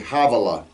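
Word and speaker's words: Havilah: where there is gold that word chavala begins with a head it's not ha with a hey havela okay we oftentimes mispronounce that um and by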